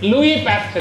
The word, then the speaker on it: Pasteur: It's Louis Pasteur. Yes is silent there.